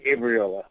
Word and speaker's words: Gabriola: People pronounce it both ways, so I don't Gabriola. Know if there's a right way or a wrong way. I say Gabriola.